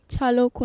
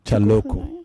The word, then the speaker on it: Chalokwu: am I pronouncing your surname correctly? That's your surname? Yes, sir. Say it. Chalokwu. Chalokwu.